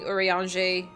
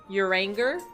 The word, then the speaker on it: Urianger: I was watching this stream and the guy was calling Urianger Uranger. I mean, I guess if